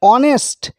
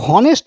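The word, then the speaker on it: honest: এখানে অনেস্ট অনেস্ট উচ্চারণ কিন্তু হনেস্ট বলছি না এইসটা উচ্চারণ করছি না অ দিয়ে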